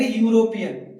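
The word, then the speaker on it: European: Trick अपनाओ, हिंदी वाली, इसको हम बोलेंगे यूरोपियन। ठीक है, इसका हम प्रोनाउंसिएशन लिखते हैं अपने हिंदी उसमें। ठीक है, यूरोपियन। अब यूरोपियन हमने हिंदी में इसका प्रोनाउंसिएशन लिख दिया। फर्स्ट लेटर क्या है, जो कि हिंदी वर्णमाला का व्यंजन है, तो फिर क्या लगाना है इसके आगे, ए, और ए ही लगता है, हो गया ना सही।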